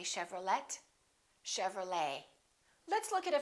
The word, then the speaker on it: Chevrolet: A few more ET endings. Bouquet, like a bouquet of flowers. Buffet. Valet. And one more, Chevrolet. We don't say Chevrolet.